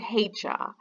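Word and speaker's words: heicha: bit so then there's this word hey cha so this lu bao is a ha and hey it is like a hey how are you today or you know there's some hay in the barn for the horses hey hey chad of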